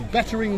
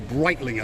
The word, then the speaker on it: Breitling: Now, that one there is a shop that sells Bettering watches, or Breitling I think is the correct pronunciation.